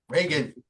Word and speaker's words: Reagan: Reagan, Reagan. like the Exorcist.